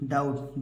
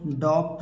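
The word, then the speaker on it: doubt: भी साइलेंट होता है अगर टी के पहले बी आ जाए तो भी साइलेंट होता है देखिए t के पहले बी आया है तो बी क्या हो जाएगा साइलेंट हो जाएगा बी क्या हो जाएगा साइलेंट हो जाएगा देखिए टी ई बीटी क्या है डेट डेट माने कर्ज देखिए डी ओ यू बी टी डाउट डाउट माने क्या हो जाएगा संदेश आपको डॉप्ट नहीं पढ़ना है ना तो डेप्ट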